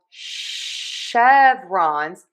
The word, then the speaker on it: chevron: And then we have chevrons. Yes, an sound even though it's spelled with a ch.